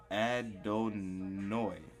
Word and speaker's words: Adonai: a long note right 136 Adon noi well that was the that's how you pronounce it it says Adon but